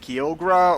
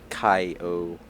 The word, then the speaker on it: Kyogre: It was like, I think I might have said like Kyogre or okay, Shepherd. Well, it spells like it starts with Kyo, but it's actually Kai-O.